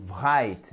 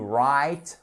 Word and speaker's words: write: Faites attention à ne pas prononcer le W, ok? Ce n'est pas to write, mais to write, wrote, written.